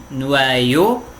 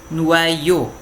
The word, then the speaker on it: noyaux: Un noyau, des noyaux. Ok? Mais uma vez, un noyau, des noyaux. Mesma pronúncia. Só vai mudar o artigo,